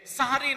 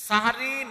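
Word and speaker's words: সাহরি: এই যে কয় সেহরি, আমি বললাম সাহারি, হেরা কয় সেহরি, কি হবে? সাহারি। সিহরুন মানে হচ্ছে জাদু, সেহরি মানে জাদু, আর সাহরুন মানে হচ্ছে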